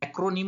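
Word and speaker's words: acronym: ये अर्निम अर्निम दोस्तों ये प्रोनंसिएशन इस वर्ड का होता है एक्र निम एक्रोनीम मत बोलना एक्र निम और उसके लिए हमें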